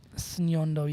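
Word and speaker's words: Ssenyondo: is the other one while it looks like it's easy it's got two s's sondo yep and you got to pronounce both s's oh that's going to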